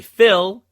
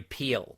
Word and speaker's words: Phil: and also from boston it's not gary phil it's gary peel midwest